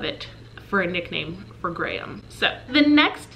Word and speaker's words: Graham: that worries me so Graham is a strong name I love Graham I say it almost as if I'm saying great um but we live